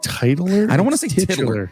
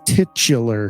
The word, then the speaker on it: titular: when the you keep you keep pronouncing it titler I don't want to say I don't want to say that it sounds weird it's titular it sounds weird tit Chiller